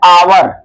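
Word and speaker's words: hour: इसके बाद यहां भी जो ये शब्द लिखा गया है इसका जो प्रोनाउंसिएशन होता है यानी उच्चारण होता है आवर। क्या होता है? आवर। यानी इन सभी शब्दों में एच जो है साइलेंट होता है।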